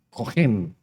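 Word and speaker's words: כֹּהֵן: al Señor la palabra original para sacerdote es cogen se escribe seo h e n y para el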